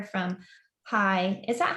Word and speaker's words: Hai: as well and snow gets a letter from hai is that how i pronounce his name yeah hi is is with the yeah